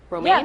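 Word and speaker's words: Romijn: Is that how you say her name? Romaine Lettuce? Romaine? Yeah, Rebecca Romaine.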